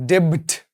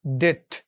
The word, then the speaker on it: debt: উচ্চারণ কিন্তু ডেব্ট না, ডেট। বয়ের উচ্চারণটা থাকবে না।